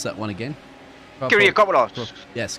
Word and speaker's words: Kyriakopoulos: And our Greek name there, if you can pronounce that one again. Kyriakopoulos. Yes, Kyriakopoulos.